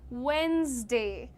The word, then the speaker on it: Wednesday: The correct pronunciation is written here. Just say Wednesday.